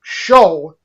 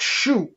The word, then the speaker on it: shew: For example, like I said, this spell shew is pronounced show, not shew.